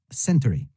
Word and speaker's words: century: Après, nous avons century, century, century, qui ne se prononce pas century, mais plutôt century.